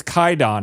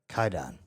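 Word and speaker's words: Kwaidan: It's called uh Quaidon or it's it's Kaidon is how you're supposed to pronounce pronounce it, but it's spelled K W A D- N. One word. Okay. Kaidon.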